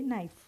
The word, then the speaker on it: knife: v ke ke for knife in this word knife the sound of K is silent so we will simply say nice let us have a